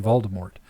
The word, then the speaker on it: Voldemort: In all the movies, they say Voldemort, but according to whatever her face is, because like if you listen to like the audiobooks, it's Voldemort. Huh. The T is silent.